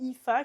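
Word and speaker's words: Aoife: d'après, c'est Joé et Ifa qui s'écrit Awaf mais je sais pas pourquoi elle s'appelle IFA. Elle s'appelle sûrement IFA parce que je parle pas irlandais moi non plus. Mais c'est IFA et Joé les deux d'après.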